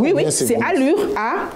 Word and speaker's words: Alur: Oui, c'est alure. A L U R. Peut-être je prononce en français mais c'est alour ou allure